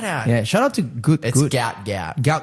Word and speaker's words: Gout: Shout out to good gout. Gout. Gout. Gout. Yeah, that's how it's pronounced.